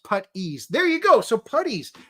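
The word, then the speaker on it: puttees: the same thing uh putties pronounced putt ease there you go so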